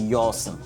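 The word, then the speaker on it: Yawson: For example, Yao was then corrupted to be Yorson. Do you understand? So Yao. So if you see the way Yorson is spelled, is Y-A-W.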